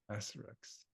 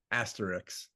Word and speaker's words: asterisk: you say that word Asterix Asterix yep oh nice that's the way I say it good it's of course it is spelled asterisk with the S before the K but it sounds like both you and I